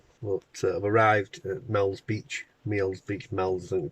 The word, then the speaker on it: Meols: 4:30 in the morning, and I'm on the Wirral, but I've arrived at Meols Beach, Meols, I think we pronounce it locally, and it's pretty dull and interesting.